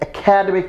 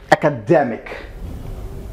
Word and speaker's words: academic: across the whole world, most of the people pronounce this what they spell. This is an academic course.